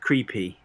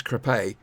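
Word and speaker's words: Crépy: with the town of creepy it's true it is creepy an island that's not quite how they pronounce it is crepay but you know that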